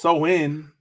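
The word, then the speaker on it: Samhain: know go over it a little bit so Sam Hayne Sam Hayne a GIC word pronounced so in is a pagan religious Festival originating from an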